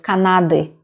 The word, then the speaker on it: Канады: Please don't struggle with the sound and don't try to pronounce it as like из Канады. Yeah, sound is very light. Normally it is at the end of our word, and we do not, all native speakers do not pronounce this as Канады. It is just Канады, Канады. It's more like even like or like neuter sound. It is not stressed.